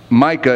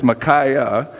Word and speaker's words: Micaiah: we pronounce these names micaiah it's not my Micah it's macaé anyway he was a